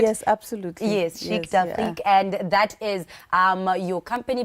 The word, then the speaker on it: Chic d'Afrique: Yes, Chic d'Afrique, and that is your company, but you're working with beading. Can you please tell us about Chic d'Afrique? Let's start there. Most definitely. Good morning, everybody. Chic d'Afrique is basically Afrocentric pieces that we make.